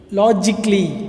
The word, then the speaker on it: logically: Then second one is logically. இது எல்லாமே க்ளீ, அவ்வளோதான். களி அப்படின்னு சொல்லக்கூடாது, க்ளீ. artistically, logically என்ன?